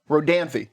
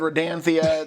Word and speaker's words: Rodanthe: Rodanthy. That's how that's how you pronounce it. I've said Rodanthia.